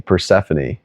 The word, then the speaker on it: Persephone: Persephone. Like Stephanie. Persephone.